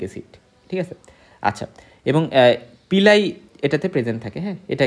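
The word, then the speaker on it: pili: আমরা বলতেছি বাট এটা এটার আসলে উচ্চারণ হবে পিলি কি হবে পিলি আমি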